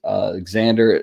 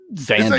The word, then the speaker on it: Xander: I mean, like if you have an X in your name, you should pronounce it.